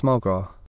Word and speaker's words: McGrath: In Ireland, it is pronounced MuhGrah.